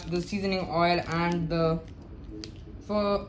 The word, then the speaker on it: pho: of vietnamese noodle soup it's actually pronounced for not not four so when we open